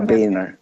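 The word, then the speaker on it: Boehner: biner By the way yun ang ah tamang pronunciation Ayaw niyang tinata pino-po niya biner okay si speaker viner Oo ah yung nangyari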